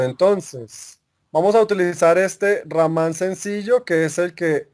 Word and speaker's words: Raman: el nombre del amplificador se escribe raman amplificador a verás power model así como aparece en la imagen no sé si lo alcanzan a ver se dice así rahmán amplifica amplifier a verás